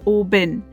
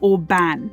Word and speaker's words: Oban: Oban actually means Little Bay in Scottish Gaelic, and despite how it's spelt, it's pronounced Oban, not Oban.